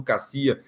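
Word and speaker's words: Kaseya: atacou as soluções da empresa Cassia, K-A-S-E-Y-A. Você pode pronunciar, por exemplo, como Cassia.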